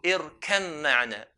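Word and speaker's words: ارْكَب مَّعَنَا: We merge the ba onto the mim. So irkam ma'na.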